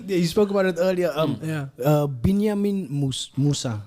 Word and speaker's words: Binyameen Mūsa: Binyameen Mūsa. That's how you pronounce it, right?